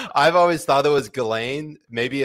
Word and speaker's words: Ghislaine: Yeah, because there was a spoof article about how Ghislaine Maxwell got the virus, and I had to play on it, so I posted it. Hold on, how did you say it again? Ghislaine Maxwell? Maxwell. Ghislaine Maxwell.